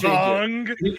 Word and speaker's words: Aang: Yeah, it's pronounced Ong.